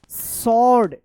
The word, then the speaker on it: sword: And found a small सॉर्ड, SWORD सॉर्ड, यहाँ पे W silent है, इनसाइड।